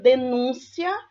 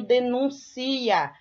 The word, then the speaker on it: denúncia: é ação de jogar eu tenho denúncia que é um substantivo eu tenho denuncia que é um verbo Então observa em que essas palavras têm a mesma escrita mas a pronúncia e o significado é diferente ok homonimas homofonas amorfo